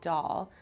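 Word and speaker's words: Dahl: really wanted to incorporate my last name into doll, which is spelled D A H L.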